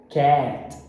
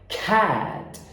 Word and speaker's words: cat: A dica que eu dou é você aspirar esse K. Então não é cat. Não, a pronúncia é cat. Por quê? No inglês, os fonemas PTK, quando eles são tônicos, eles são aspirados. Então a pronúncia não é cat, e sim cat.